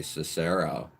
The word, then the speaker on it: Cicero: Cicero with the accent on the first syllable, not the second. What do I say? Cicero.